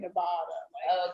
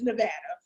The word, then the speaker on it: Nevada: I found out that we're saying it wrong because we're from the East Coast. So we've been saying Nevada. But it's Nevada.